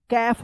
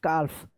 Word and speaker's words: calf: चलिए अब देखिए यहाँ पे CALF, क्या पढ़ेंगे, कैफ पढ़ेंगे, कैफ। यहाँ पे भी क्या है, एल साइलेंट है, CALF, काल्फ। अब देखिए यहाँ पे काफ पढ़ेंगे, कैफ, COULD, तो क्या पढ़ेंगे इसको, कूल्ड।